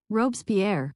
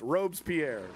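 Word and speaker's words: Robespierre: Pronunciation. Robes Pierre. Oh, you're right. Okay. Clutch cargo. Okay. You're totally correct. Robes Pierre.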